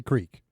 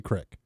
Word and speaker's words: creek: I would say creek, but That's around here where I'm living currently, they would say crick.